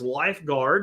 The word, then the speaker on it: Lifegard: Today's item of the day is Lifeguard, and it's spelled Lifegard, Aquatics. It's all one word, Lifeguard Aquatics.